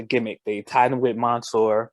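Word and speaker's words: Mansoor: they tied him with monsoor mansour i don't want to say his name wrong i think it's mansour they tied him with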